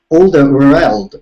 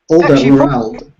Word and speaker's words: Alderweireld: I was studying how Toby A of Spurs pronounces it. So it's Alderweireld like that. Oh, very good. Kind of Alderweireld.